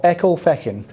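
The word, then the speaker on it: Ecclefechan: you got that everyone the correct answer is the Scottish town of echo Fen Fen Echo Fen here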